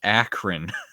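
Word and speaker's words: Akron: pedophilic Goblin King of Acron Ohio it's pronounced akine who cares same thing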